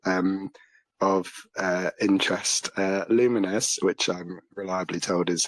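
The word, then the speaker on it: Lumines: Uh, Luminous, which I'm reliably told is how you pronounce it, Arise.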